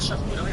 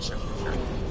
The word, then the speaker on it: charcuterie: Is it charcuterie or charcuterie? Someone said charcuterie. I don't know. I mean, I'm guessing it's probably French. How do you say that, George? Oh, charcuterie. Okay, that's charcuterie. The C has to be hard.